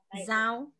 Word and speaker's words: Giao: So the person that spells G-I-A-O, how do you say it? Zhao.